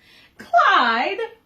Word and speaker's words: Clyde: him toward her ear Clyde what a nice name it rhymes with slide and that's what you